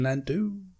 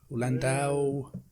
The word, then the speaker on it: Landau: win best supporting actor in 1995 was martin landu landau have we pronounced his surname for edward which leaves so